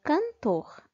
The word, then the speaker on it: cantor: para frente por exemplo na palavra cantor a sílaba mais forte é a sílaba por na palavra caneta a